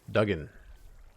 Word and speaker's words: Duggan: Like diggin', but with an A and a U.